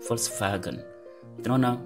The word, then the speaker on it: Volkswagen: C'est-à-dire le V se prononce également F. Ce n'est pas V. Il y a des exceptions, mais ici, au niveau de l'alphabet, ça se prononce F. Et dans la majorité des cas, c'est F. Comme VW, Volkswagen.